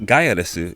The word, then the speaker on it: Gaiares: finalized title gyrus pronounced gaiaresu in japan gaia obviously referred to the earth and res was meant to be the english word les which when pronounced in japanese would be said as resu so technically gaiares should